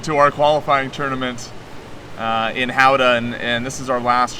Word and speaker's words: Gouda: order to help us prepare for Howda. that event in the Netherlands, and it's Gouda is the name of the city. Gouda, if you're familiar with American cheeses in the markets, here, that's how it's spelled.